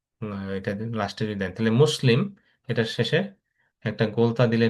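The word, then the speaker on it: مسلمة: এটা লাস্টে যদি দেন তাহলে মুসলিম, এটা শেষে একটা গোলতা দিলে এটা হয়ে যাবে মুসলিমা। এটা যেহেতু এটা গোলতা, এটা আমরা পুরোপুরি তা উচ্চারণ করি না, এটা হায়ের মতো উচ্চারণ হয়।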